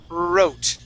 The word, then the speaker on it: wrote: now as you notice there is a w at the beginning of these words but in both words that W is silent okay uh so the